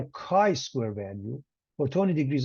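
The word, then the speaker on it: chi: square is K square a Greek letter pronounced Kai all right a Kai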